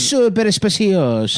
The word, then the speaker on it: Super Speciosa: They sent a link to how to pronounce super speciosa Super speciosa. because I guess I was saying it wrong. It's super speciosa.